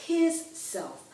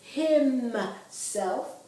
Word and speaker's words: himself: Okay, and the reflexive pronoun in English is myself, yourself, himself, not his self. A lot of Americans say his self. That is incorrect. It's himself, herself.